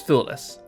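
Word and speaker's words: Thewlis: How the hell do you pronounce that name? David F. Let me say David Fool. Yeah, I I've I've got no idea. Let's see. Pronunciation. Okay. Oh, is it foolless? Actually, I might be correct. Let me Let me see. It has it on Google right here. It is foolless.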